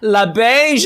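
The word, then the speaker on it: LaBeija: La Beige, darling. Yeah, La Beige, sorry. I literally wrote it down phonetically.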